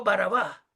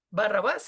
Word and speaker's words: Barrabás: Así se llama, literalmente, Yeshua Barabá. Barrabás es una mal pronunciación. Creo que es del griego que lo ponen.